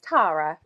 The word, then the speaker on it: Tara: So do you pronounce it Tara or Tara? It's Tara. Tara, yeah.